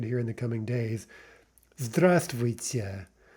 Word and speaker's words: здравствуйте: Note the spelling there. It's actually zdrav, zdravствуйте. But the v is not pronounced, right? It just drops out because it's hard to pronounce. This word is not very easy to pronounce generally. So what we actually say is здравствуйте, здравствуйте, with no v.